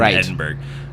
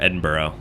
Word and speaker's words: Edinburgh: in he's in the uk obviously he's in edinburgh um edinburgh i just did it wrong and then i